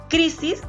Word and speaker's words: crisis: Crisis es una palabra grave porque tiene la mayor fuerza de voz en la penúltima sílaba.